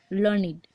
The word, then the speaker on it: learned: Okay, came to the court, then we pronounce it as a learned to rhyme with created and waited.